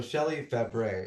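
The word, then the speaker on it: Shelley Fabares: So, Shelley Febre is how you pronounce.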